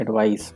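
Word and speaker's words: advice: Pronunciation पे आप ध्यान दीजिएगा, ये जो CE है ना, इसको पढ़ते हैं एडवाइस, स का साउंड है इसमें, और ये नाउन है, इसका मतलब है सलाह।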